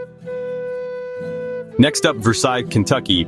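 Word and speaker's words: Versailles: Next up, Versail, Kentucky. Pronounced Vers Sales.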